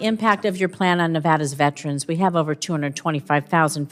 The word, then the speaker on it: Nevada: what about the impact of your plan on Nevada's veterans we have over 225,000 veterans in Nevada